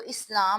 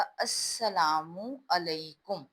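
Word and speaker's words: السلام علیکم: जिसका ये लगता है जैसे लिखा है इस्लाम तो इस्लाम नहीं होता ये अलिफ के बाद यह लाम है लाम यहां साइलेंट है इसकी आवाज नहीं आती तो इसलिए यह बोला जाएगा अस्सलाम अलकुम अस्सलाम अलकुम के बाद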